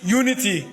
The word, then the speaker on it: unity: Ici, par exemple, comment tu prononces ce mot? Unity. Unity.